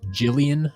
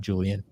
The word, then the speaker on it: Jillian: It's Jillian, Jillian, Jillian, not Julian.